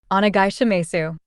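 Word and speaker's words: onegaishimasu: Onagashimasu. And you don't really pronounce the su part unless you're a little kid.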